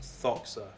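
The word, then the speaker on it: δόξα: And I recently found out that the word doxa is actually pronounced thoxa in Greek.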